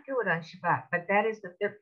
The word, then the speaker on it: Shabbat: are all pronounced now if you've got somebody ashkenazi background an older person perhaps or you go to khabad this is going to have an s sound what's a word where